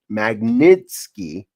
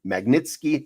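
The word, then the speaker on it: Magnitsky: Of advocates pressed for the imposition of global Minsky Magnitski. I'm always mispronouncing it. Magnitzky sanctions on Azerbaijani officials for war crimes.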